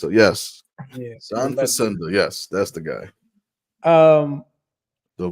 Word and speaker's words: John Facenda: John Facenda. I messed up my syllables and got my vowels mixed up. Yes. Yeah. John Facenda.